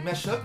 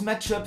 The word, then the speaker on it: mashup: Il y en a qui disent match-up, mais il me semble qu'on prononce plutôt mashup.